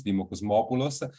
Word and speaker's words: Dimo Kosmopoulos: It's Dimo Kosmopoulos, strong Greek name because my father was Greek.